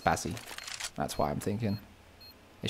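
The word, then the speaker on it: Spazie: And that's pronounced Spazzy.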